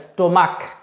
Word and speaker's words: stomach: দেখো সিএইচ এর দু রকমের প্রোনাউন্সিয়েশন হয়, একটা হচ্ছে সফট প্রোনাউন্সিয়েশন, একটা হচ্ছে হার্ড প্রোনাউন্সিয়েশন। মানে বাংলায় বলছি, সফট মানে হচ্ছে সিএইচ এ চ হবে আর হার্ড মানে সিএইচ এ ক হবে।